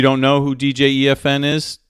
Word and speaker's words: EFN: Those of you who don't know who DJ E.F.N is, do not pronounce it DJ F.N. It's not FN radio.